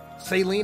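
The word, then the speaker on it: Cyllene: this who is this does somebody let me know who this is saline that's how you say it assuming the individual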